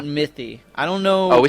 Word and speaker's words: Mythy: We actually got a U spell check and it's actually or pronunciation check and it's Mythy. Noty. Yeah. Not not mey, not Maty, not Mie, but Mythy.